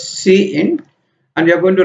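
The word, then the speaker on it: cin: what it does love we pronounce this as C in and you are going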